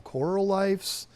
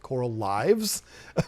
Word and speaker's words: Coral Life: It's a brand, Coral Life, and it's Coral Lifes. I'm not going to pronounce it Coral Lives because I don't think that would be the right way to do it.